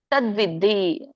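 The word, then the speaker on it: ತದ್ವಿದ್ಧಿ: ಹೇಳಿ ಕ್ಷೇತ್ರ ಕ್ಷೇತ್ರಜ್ಞ ಸಂಯೋಗ ತದ್ವಿದ್ದಿ ದಕ್ಕೆ ವ್ಯಂಜನ ಇರೋದ್ರಿಂದ ದಕ್ಕೆ ವತ್ತು ಬಂದಾಗೆ ಹೇಳಬೇಕು ತದ್ವಿ ಭರತರ್ಷಭ ಇದರ ಒಂದು ಉಚ್ಚಾರಣೆ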